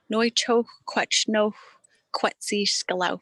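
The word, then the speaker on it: Nu chexw kw’átchnexw kwétsi sḵel̓áw̓: inter interviews um even a recording how to pronounce the project uh that tsunakola helped us with noicho no quetzi scalau is how you say it and you know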